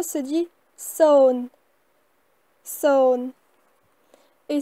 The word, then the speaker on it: សូន្យ: Alors 0 se dit son. Son. Et s'écrit de cette manière-là.